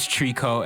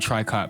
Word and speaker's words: tricot: One of the first bands I've ever recommended on this channel was Trico. At the time I was pronouncing it Tricot because I am an absolute fraud for some unknown reason.